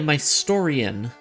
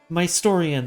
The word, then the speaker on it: Mystorian: I say it Mystorian. Ah, okay. Also, like, it can be pronounced different ways, so it's all good. Fair enough. Mystorian, like historian, but it's your story.